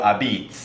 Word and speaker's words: apizza: as they say and a beets is a New Haven only word for pizza it's spelled a-p-i-z-z-a and the place I grew up going in North Haven is called Grand the beets and uh it's you can always tell the locals uh because they say it correctly and everybody else says a pizza all right and next